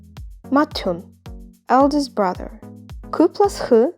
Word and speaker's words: 맏형: tu plus hu is going to be pronounced as tu, 맏형, eldest brother.